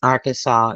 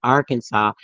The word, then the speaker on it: Arkansas: the official pronunciation of Arkansas as having the final s be silent as it would be in French a dispute had risen